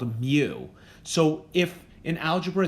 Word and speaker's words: mu: symbol the symbol looks like this so it's pronounced mu and this is the population mean in other